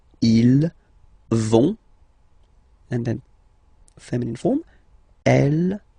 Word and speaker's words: vont: you don't pronounce it, so ils vont, final T, not pronounced. Ils vont, and then feminine form, elles vont.